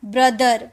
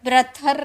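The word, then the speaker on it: brother: और कभी-कभी टी एच को द में भी साउंड निकालते हैं। जैसे द टी एच ई द बी आर ओ टी एच ई आर ब्रदर। ब्रथर नहीं थ नहीं निकालते। ठीक है? बोदर बोदर बोलते बोथर नहीं बोलते फादर बोलते हैं फादर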